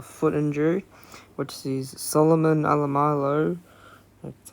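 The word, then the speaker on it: Alaimalo: Junior Tupou drops out for the Tigers due to a foot injury, which sees Solomon Alamalo, that's how you pronounce his name, makes his debut.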